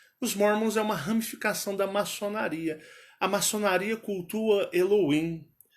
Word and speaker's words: Elohim: O americano fala assim, Elohim. Elohim. Aquilo foi um choque em mim, com 15 anos de idade. Elohim. Mas no Brasil vocês vão pronunciar diferente.